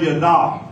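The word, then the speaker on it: yadah: Number one is the Hebrew word yada. Say yada. It's spelled Y-A-D-A-H.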